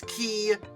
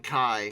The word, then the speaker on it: Ki: It should be KI 61. But, let's be fair, nobody, no one, not a soul, says those designations by letter if it can be pronounced as an actual word, so I'm going with Key 61.